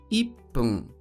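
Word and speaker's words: いっぷん: minuto que é ipum ipum que nos traz duas alterações de leitura o pum do contador de minutos e também do número um que normalmente dizemos it mas que Neste contexto é tirada a sílaba ti e inserido o pequeno tu indicando a necessidade da pausa rápida ficando ipum em seguida temos nium nium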